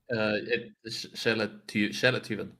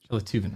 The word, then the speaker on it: Sjeletyven: How do you pronounce the full name? Shelativan. Shelativan.